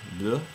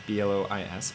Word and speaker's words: Blois: couple of the chateaus in blue that's how you say it blue and I think it's blois blue and we went